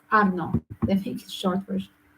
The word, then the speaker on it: Arnaud: They pronounce it the way you talk, Arnaud.